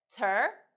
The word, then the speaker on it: 词儿: If you do like this, we just no pronounce e sound and direct So for example, 词儿.